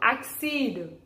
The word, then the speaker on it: accede: So let us move on to our third word, accede. A-C-C-E-D-E. A-C-C-E-D-E. Accede. Okay, you pronounce it as accede.